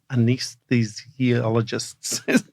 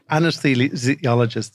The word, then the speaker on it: anesthesiologists: the College of anise anesthesiologists can I say it anesthesiologist for sorry I I I I put the emphasis in the wrong syllable anesthesiologists of Ireland they had